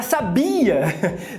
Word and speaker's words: sabia: Você sabia que a palavra sabia tem os mesmos segmentos fonéticos que sábia e sabiá? A única diferença é a sílaba tônica.